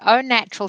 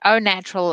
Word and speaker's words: Au Natural: your background right so oh natural skin food yes you have pronounced it properly it is spelt a u which is a little bit confusing but it is pronounced o h and o natural is o is the